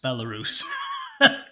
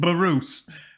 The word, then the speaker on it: Belarus: So she doesn't know how to pronounce Belarus. She said Barus.